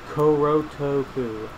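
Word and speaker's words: コロトック: Its Japanese pronunciation is Korotoku.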